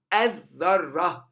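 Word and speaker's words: الذرة: Ad-dharra, ad-dharra, the nucleus, or the atom, sorry, the atom. Ad-dharra, ad-dharra. You don't pronounce the lam and you put shadda on the.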